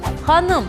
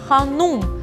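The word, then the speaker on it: ханым: бассейн ходи не сокровищница ханом госпожа мадам но стоит отметить что на русском языке мы говорим ханум то есть буквы ул но в крымскотатарском языке произношение и написание обязательно должно писаться с буквы и то есть х мы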